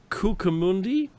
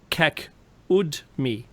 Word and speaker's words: Kakudmi: the Mahabharata mentions the story of King Ravata Kukamundi, that'll do. I know I didn't say it right. Who travels to Earth to meet the creator Brahma. And I'll say it right, so Ravata Kakudmi.